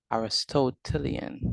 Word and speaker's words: Aristotelian: So Aristotelian, that's the word, that's how you pronounce it.